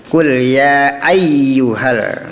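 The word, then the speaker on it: قُلْ يَا أَيُّهَا: Nah, seperti ada gunah ya, seperti idgam bigun. Nah, padahal itu tasydid. Tasydid artinya kuat menyam menyambar. Disambarin saja. Qul ya ayyuhal. Nah, seperti itu cara membacanya. Bukan ditahan ya, bukan didengung.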